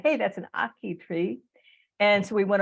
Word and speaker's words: ackee: So he has to unmute and tell me how to pronounce it again, Peter. It is ackee and saltfish.